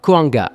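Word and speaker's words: Cahuenga: Règle numéro 2, apprenez la bonne prononciation de certains noms de rue. C'est Taunga, Koanga, Figueroa, Sepoulveda, Wilshire, pas Wilshire et Doeni.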